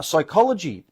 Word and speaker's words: psychology: t is silent uh psychology p is silent when it comes to